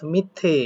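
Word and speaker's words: 밑에: তাহলে মিথ অর্থাৎ মিথ্যে এরকম উচ্চারণ করে, মিথ্যে।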